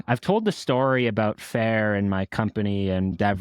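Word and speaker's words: Fayr: these days you've got the word that may be phonetically you can recognize Fair spelled in a way that no one can really pronounce or it's harder to pick can you spell it for me it's f-a-y-r it was a plan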